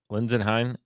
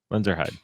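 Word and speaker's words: Lenzerheide: So let's get into Lenzenheim. Is that how you say it? Lenzenheim? Lenzeerheide, Lenzenheim? Lenzeerheide. Okay. Lenzeerheide.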